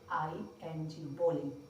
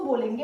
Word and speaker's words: bowling: इसका यूज होगा BOWLING, बॉलिंग। इसको बोलेंगे बोलिंग, नॉट बॉलिंग, बॉलिंग।